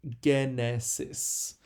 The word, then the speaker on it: genesis: And finally, genesis, which in English, of course, is pronounced Genesis. But in Greek, the gamma is always a G sound. It's a hard G.